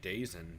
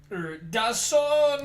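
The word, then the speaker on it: DAZN: Yeah, Bill also got super salty at Dazen during that episode. Dazon! Nah, dog, it's Dazen, because that's how the fuck they spell it.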